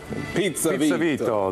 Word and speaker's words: Pizza Vito: Pizza Vito. That's right. The accent's on the second syllable.